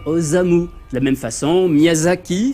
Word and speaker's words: Miyazaki: De la même façon, Miyazaki s'écrit forcément avec un Z et pas un S, sinon ça ferait Miyasaki.